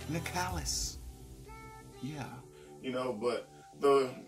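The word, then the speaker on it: Nicalis: another game made by Nicholas Nick Ellis I think the proper way to say it is nikalis yeah you know but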